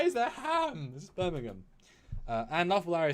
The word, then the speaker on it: Birmingham: i can't even say i can't say birmingham anymore because i've learned to say it properly it's birmingham birmingham yeah but those don't